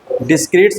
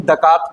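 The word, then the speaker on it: Descartes: है, उनका नाम था रेन डिस्क्रीट्स, नहीं दकार्त पढ़ते हैं इसको, इसका प्रोनाउंसिएशन क्या है, दकार्त, रेन दकार्त, ठीक है, मैथमेटिशियन थे।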